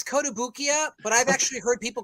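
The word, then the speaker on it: Kotobukiya: kotobuki how do you say that so it's kodabukia but i've actually heard people call it kotabukaya as well all right well you know every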